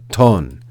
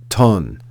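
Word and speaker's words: τόν: There's no V in Greek, so remember that the letter that looks like an English V is actually the Greek consonant nu, which makes the sound n. So this word here is pronounced ton, ton, ton.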